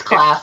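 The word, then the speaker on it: Klaas: I always say Khalees. Sorry. Everybody butchers his name. It's okay. But it's Class, yeah. It's not Khalees.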